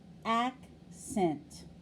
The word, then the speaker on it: accent: lesson seven of phonics listen to this word accent how many syllables are there accent accent correct there are